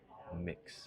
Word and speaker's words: Mx: And it is spelled like this. Mix, MX.